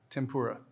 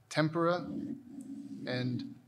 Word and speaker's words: tempura: fried in deep fat tempura any alternate pronunciations tempera the word is from japanese tempura um tempura on anything